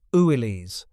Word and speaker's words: Willys: They pronounced it "oo-ee-lees" according to the daughter of the Willys-Overland chairman.